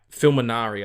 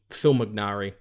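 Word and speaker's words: Fimognari: n a r i fil minari I think it is I don't think you would pronounce the G or film Phil mcari whatever Phil Michael he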